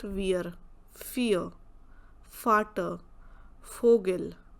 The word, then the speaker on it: Vogel: Same way here also, fear, not weir, fear, farter, Vogel. So every time the sound is F.